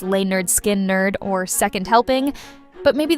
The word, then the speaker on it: Lynyrd Skynyrd: sure they'll never recapture the raw magic of pronounced lay nerd skin nerd or second helping but maybe that's the point